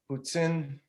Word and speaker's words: poutine: I learned all about the Poutine.